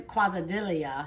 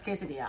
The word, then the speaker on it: quesadilla: melting cheese so it's a Mexican kwasind Ilya know how you say it okay no it's quesadilla obviously style melting cheese so like we say quaza deli as a joke mm-hmm but we never